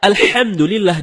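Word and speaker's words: الحمد لله: membaca alhamdulillahiabbil alamin Nah ada yang membaca alhamdu tidak menggunakan ha dalam kerongkongan kalau kita membaca alhamdulillah dengan ha dalam kerongkongan ya artinya segala puji bagi Allah nah sebaliknya kalau kita baca alhamdu alhamdu ha bukan tenggorokan maka artinya segala kematian jauh berbeda begitu juga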